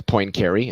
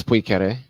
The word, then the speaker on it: Poincaré: Just like everybody says Poincaré, it's Poincaré. Oh, again, Poincaré? Leo was right. His pronunciation is right again on a totally different thing that nobody was talking about.